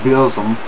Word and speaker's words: Burzum: it now i'll go i'll call it beausom because that's how the man himself at varg pronounces that uh